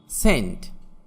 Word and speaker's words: scene: সিন, SCENE, এখানে সি এর উচ্চারণ হবে না।